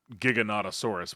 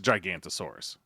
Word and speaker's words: Giganotosaurus: that sees only movement this is the Giganotosaurus which I you know what it's a gigantosaurus off it's gigantosaurus you can say Giganotosaurus all you want it's gigantosaurus spelled the same said the same whatever um but it